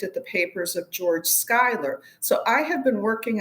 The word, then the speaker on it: Schuyler: It's about someone I'd never heard of, a writer called George Schuyler. Am I pronouncing that right? Skyler.